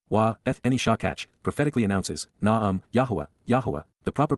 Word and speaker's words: Yahowah: And she ignored and forgot me, Eth Eni Shakach, prophetically announces, Yahowah, the proper pronunciation of Yehovah our Eloah, God as directed in his Twrah, teaching regarding his Hayah existence in our Shalom WM, restoration.